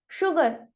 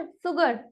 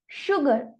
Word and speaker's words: sugar: नहीं ना, लेकिन मैं इसे रीड कैसे कर रही हूँ? शुगर, नॉट सुगर, right? That is a wrong pronunciation for that. यानी कि यहाँ पर S और U का कॉम्बिनेशन श की साउंड जनरेट कर रहा है, इसीलिए I have read it शुगर।